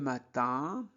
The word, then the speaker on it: matin: Dès le matin, donc E accent grave se prononce E, dès le matin, IN se prononce un, matin, de nombreux, OM se prononce on, non, nombreux, voisins se dirigent.